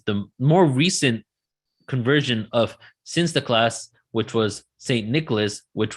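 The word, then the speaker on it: Sinterklaas: to celebrate the event the dutch pronunciation of saint nicholas is since the class when the dutch emigrated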